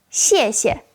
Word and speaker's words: 谢谢: Then, 谢谢, which is thank you.